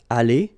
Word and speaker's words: aller: Okay, here you've got aller, aller, even if you've got the final e, you don't pronounce it. Aller, even if you've got the s. Aller, even if you've got this es.